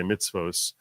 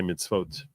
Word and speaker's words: mitzvot: Americans say mitzvos. Israelis would say mitzvot. They change the S on the end into a T.